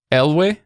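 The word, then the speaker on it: Elwë: that E is actually supposed to be pronounced. And so that's where words like Elwe, that's not that confusing, right?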